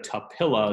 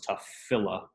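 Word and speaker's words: תפלה: The pe does not have a dagish line because that's not really a full vowel under the tav. So it's kind of acting like there isn't a vowel under the tav because it's kind of a filler. So that messes with the dagish line rules. So instead of tapilla, this becomes tafilla.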